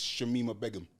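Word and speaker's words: Shamima Begum: it's Shemima Begum.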